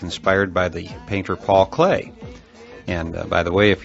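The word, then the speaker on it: Klee: engineering student like me you may be pronouncing his name CLE kle just as it's spelled however I have it on very good authority that Clay is a proper pronunciation in any event uh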